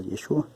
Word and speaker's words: Yeshua: el único libertador significa también yeshua aquí está yeshua se pronuncia así pero también se puede pronunciar cto